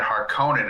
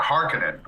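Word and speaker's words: Harkonnen: pronunciations and stuff like in the Lynch films and everything when they talked about the Harkin and everything they they said har conin and they had it pronounced on the o well in these they call it Harin which is the same thing it's just pronounced differently and it just doesn't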